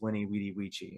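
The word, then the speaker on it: veni, vidi, vici: But it's the same way, you know, people, Vini Vidi Vici was actually pronounced Winnie Vidi Vici.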